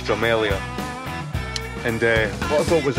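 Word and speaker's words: Drumelzier: I was corrected that you don't pronounce the Z silent. So they Dromelzia. It's Dromelia.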